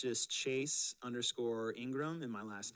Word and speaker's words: Ingraham: a h a m I always say I in and then the word Graham like graham cracker um my email Chase